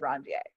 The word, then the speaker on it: Ranvier: called a node of Ranvier. If you listen to Dr. Schoppe's lab talk, he pronounces it different, but this is actually a French dude's name, and it actually is pronounced node of Ranvier instead of, I don't